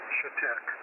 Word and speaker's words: Chetek: It is pronounced Chetek. Chetek.